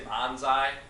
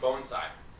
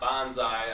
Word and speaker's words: bonsai: you hear people say Bonsai which is fine it really doesn't matter to me some purists might get a little worked up about it but it's actually pronounced bonai not Bonsai I think um that's